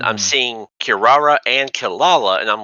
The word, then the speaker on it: Kilala: spelled it with the R's a lot as well, but it's pronounced with the L sound. yeah, Kilala.